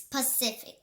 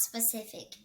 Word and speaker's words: Pacific: Guys, I said it wrong. It's Pacific, not specific.